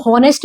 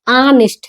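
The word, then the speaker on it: honest: कुछ लोग इसको हॉनेस्ट भी पढ़ते हैं, हॉनेस्ट क्या पूरा गलत है, हॉनेस्ट नहीं होता, ये ऑनेस्ट है, क्या है ये ऑनेस्ट, ठीक है।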